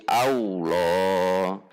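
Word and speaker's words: الله: Kalau tidak maka seperti wawu akan berubah jadi wawu. Jadi Allah, jadi au.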